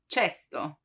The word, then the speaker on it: cesto: For casa, house, casa, but the K sound can also be pronounced as ch, as in cesto, cesto, which means basket.